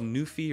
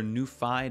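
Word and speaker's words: NuPhy: by a company called new fee or new Phi depending on how you want to pronounce it and this is the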